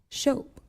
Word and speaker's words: Shope: Silent E. Shope.